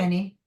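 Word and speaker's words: Ani: is that pronounced right, Annie, or did I pronounce Annie. Yep, A-N-I? Annie.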